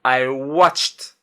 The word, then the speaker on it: watched: Le verbe watch à la fin c'est tch. Je rajoute ed ça devient I watched. Il y a un t à la fin en prononciation.